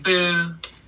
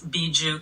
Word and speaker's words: Bjoo: I've definitely gotten DJ Buu, DJ Buju, you know, you name it. But it's beju kind of like it's it almost sounds like a kiss in Portuguese.